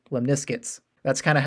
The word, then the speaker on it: lemniscates: And if you're having a hard time pronouncing the word, just think of the word biscuits and then say lemniscates.